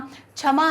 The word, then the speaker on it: क्षमा: किसी लड़की का नाम क्षमा है तो वो के शम है अपना नाम लिखती है तो ये के का जो प्रयोग है वो हिंदी में भी के के उच्चारण से ही शुरू होता है क्षमा है ना वो